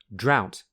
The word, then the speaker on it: drought: Drought, which rhymes with how.